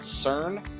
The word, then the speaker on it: CERN: france does anybody know it rhymes with burn like like burn reminds sounds like burn sweden starts with a c called cern yeah so this is